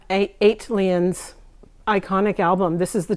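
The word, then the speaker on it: ATLiens: ali eight eighteen eight come on how do you say it yeah eight lions iconic album this is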